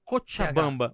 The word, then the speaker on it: Cochabamba: A pronúncia é Cochabamba.